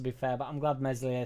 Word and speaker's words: Meslier: He ain't a bad second keeper, to be fair, but I'm glad Meslier Silent S is here.